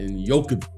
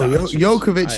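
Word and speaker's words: Jokić: You were saying some crazy pronunciations of Giannis' name. I was laughing. Giannis Antetokounmpo and Jokic. No, Jokovic is not a no.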